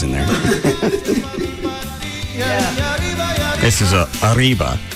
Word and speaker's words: arriba: It ain't Aliba. It is. No, it's not, Gavin. Well, yeah, but you're supposed to roll your R's about Arriba, that kind of thing.